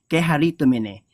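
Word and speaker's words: κεχαριτωμένη: kaire, full of grace, kekaritomene. Dun sa ibang naman pronunciation, keharitomene.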